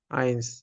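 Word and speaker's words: eins: জার্মানিতে ই বলা হয় আর এই দুইটা একসাথে থাকলে আমাদের উচ্চারণ হবে আই এর মতন এটা আলফাবেটে পড়ছিলাম সো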